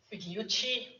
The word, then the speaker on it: Pigliucci: Also a joint initiative of the team as it was at that point to write a response to Massimo Pigliucci, that's how we pronounce that.